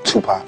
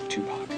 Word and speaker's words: Tupac: Tupac. Tupac. Mhm. Remember like two like two and Pac like pocket. You won't go wrong.